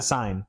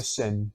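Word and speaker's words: Seine: all the swimming events in the scene okay in the sign sign I've heard it pronounced both ways depending on your in the big river that runs through Paris the sin right that runs around Paris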